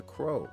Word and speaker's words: Crow: He said Cro. I have been saying it right that whole time and then I changed it to Crow cuz I think somebody else told me to say it to Cro. Say change it to crow, but it's cro.